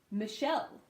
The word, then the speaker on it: Michelle: a little hint there so Michelle the unstressed syllable ma becomes Wow so that's short now what so myth and then even though it is CH in the spelling it is SH in the pronunciation or sure okay so Michelle and